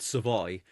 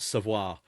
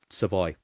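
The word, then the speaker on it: Savoie: However, I am led to believe it is still pronounced Savoy and not Savoir.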